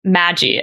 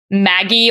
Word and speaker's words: Magi: the project is codenamed Magi. And I'm not sure if it's pronounced like Maggie or Magi, like magic, but it's spelled like Magi, like magic without the C.